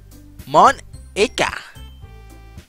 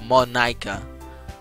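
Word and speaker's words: Monika: right in your name Mon Iike that's not how you say my name era 101 icon 1 icon oh it's Monica Monica there you go that's more Iike it's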